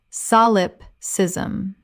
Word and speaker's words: solipsism: Correct pronunciation, solipsism. Four syllables with the stress on the first.